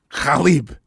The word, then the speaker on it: Khalib: So it's pronounced the way that you say it is Khalib.